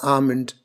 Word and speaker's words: almond: right so essentially you don't want to produce that L sound can you can pretty much neglect this L sound here so comment right